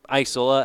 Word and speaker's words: Isola: will bring up Alex Isola Isola as it is properly pronounced is 2 for 3